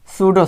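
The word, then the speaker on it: pseudo: तो सबसे पहले हम पढ़ते हैं SCIE रियल साइंस, और एक होती है सूडो साइंस। रियल साइंस अर्थात सत्य विज्ञान, रियल साइंस अर्थात सत्य विज्ञान। सूडो में पी साइलेंट है।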